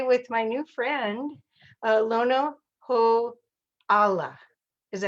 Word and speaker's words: Lono Ho'ala: business zone today with my new friend uh lono ho allah is that right did i say right that's